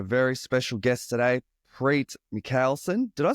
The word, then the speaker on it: Mihkelson: special guest today PR mson did I say your last name right uh so and so so and so so this guy yeah it's Mel son the HK you can't pronounce okay I have to